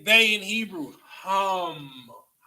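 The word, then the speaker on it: הם: So Hamet is where you get Kemet from. All right. Okay. So Pete. All right. So how do you say they in Hebrew? Hum. Not ham. Hum. Like hum.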